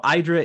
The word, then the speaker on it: IDRA: our idra calls so idra is um it rhymes with Hydra as we say to